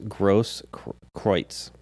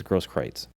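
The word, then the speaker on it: Grosskreutz: is gross kreutz and i've heard different pronoun pronunciations it's uh g-r-o-s-s-k-r-e-u-t-z all right and i think they go with your version and i think they call they pronounce it as gross kreitz anyway this guy had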